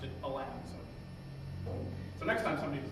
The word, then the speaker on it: Alan: So to non-New Yorkers, the name of the vice president, Chester Alan Arthur, apparently the Arthur family pronounced it Alan.